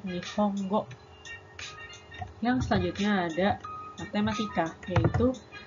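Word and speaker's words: 日本語: Ingat ya, walaupun NG-nya cuma satu, tapi dibacanya tetap Nihongo.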